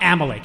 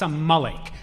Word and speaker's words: Amalek: It's not Amalek, it's Amalek. All right, that's first of all.